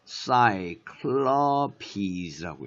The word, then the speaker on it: Cyclopes: 그래서 사이클롭스라고 읽어야 되고, 여기는 사이클로피즈라고 읽어야 돼. 사이클로피즈. 이런 거 조심해야 돼. 그지? 스트레스가 사이클롭스 있고, 사이클로피즈 이렇게 읽어야 되는 것에 조심들을 해야 돼.